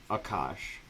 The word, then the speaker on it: Aakaash: just says i mean aka sh is like akash or akash my name is akash so it's like a long a you extend it it's not the most